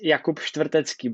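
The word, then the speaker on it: Štvrtecký: It's Jakub Stvrtecky, but I know it's hard for you. Yeah. So it's that V, just that there is no, it just doesn't exist.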